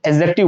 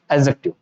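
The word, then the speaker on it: adjective: ADJ, यानी है तो देखो इसको पढ़ने में तो एडजेक्टिव आता है, लेकिन ये डी जो है ना यहाँ पे साइलेंट होता है, डी को बिल्कुल भूल जाओ आप, तो इसको जब हम रीड करेंगे तो एडजेक्टिव बोलेंगे।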